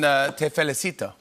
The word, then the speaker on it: te felicito: So congrats on Te Felicito. Well said. Well pronounced. Have a good accent. It was good? Te felicito. Perfect.